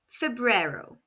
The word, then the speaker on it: febrero: Inero and February is Febru pronounced Fero. Repeat after me. Fbrero.